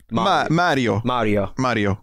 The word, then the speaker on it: Mario: I bet you they say Mario. Mario. It's a long A.